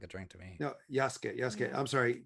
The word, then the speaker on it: Yasuke: No, Yasuke. Yeah. I'm sorry. Yasuke. What it looks like Wasuke. No, but you don't pronounce the U.